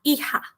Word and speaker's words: hija: El hijo, la hija. Certo? Então, o que eu já tinha dito? Encare esse J na pronunciação como RR.